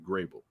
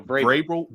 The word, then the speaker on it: Vrabel: Thank you, Grable. I said it right that time. No, Vrabel. Vrabel. How always go with the G?